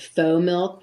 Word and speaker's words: FoMilk: new to me were a company called Faux Milk, which is spelled Fomilk, a play on, you know, the French word faux.